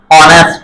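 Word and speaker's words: honest: অ থেকে শুরু হবে এইচ আর উচ্চারণ হবে না হ্যা অ ন ই সা ট অনেস্ট এইচ ও এন ই এস টি অনেস্ট বা অনেস্ট এরকম হবে না কি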